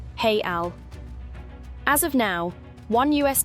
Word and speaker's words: real: currency is the Brazilian real spelled R E A L and pronounced hey Al.